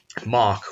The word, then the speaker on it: Moq: unit testing framework and mock which allows you to it's spelled moq but it's - MOC MOC k out implementations of interfaces